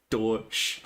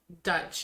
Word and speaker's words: Deutsch: Obviously, Deutsch. And yeah, that's how it's pronounced. Deutsch. Yeah, so I was right. Deutsch. Anyway. You were saying Dutch and German and not Deutsch.